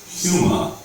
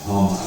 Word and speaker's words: Huma: It's Salamia, Huma, Sylvanesti, and Polonesti. And we may find some more going forward, but those are the big ones. You don't say Hama, do you? You never pronounce it Hama.